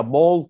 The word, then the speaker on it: ball: C O U N T count C O U N T count count ball B A مش عشان هي بنقولها ball تنطق تكتبها او لا دايما ال A L L